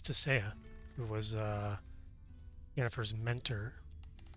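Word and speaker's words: Tissaia: interesting I didn't realize that was uh you pronounced it a little differently he's a desire in The Witcher TV show it's tasaya it was uh Jennifer's mentor at uh artuza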